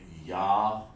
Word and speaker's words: yayin: They say yayin, and we say yan. Okay? That's how it's pronounced, yan.